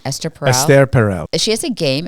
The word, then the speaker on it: Esther Perel: Esther Perel.